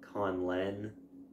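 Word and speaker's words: Conlen: pronounce of that way well how would you pronounce it well Khan Len and then Conlin would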